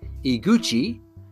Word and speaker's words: Iguchi: Using this new hardware, Miyamoto and Katsuya, Katsuya, I want to make sure I pronounce that right. Katsuya Iguchi, E-G-U-C-H-I, Iguchi, designed the Star Fox game with an early implementation of three-dimensional graphics.